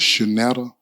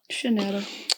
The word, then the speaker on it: Shunetta: Um, and you say pronouncing your name the right way is Shanetta. Shanetta. Okay. Shanetta.